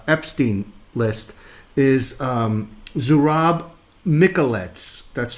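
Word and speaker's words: Mikeladze: She did her research and she found out that the Georgian mystery man that's in the uh Epstein list is um Zurab Miklettes. That's spelled Z U R A B capital M I K E L A D Z E.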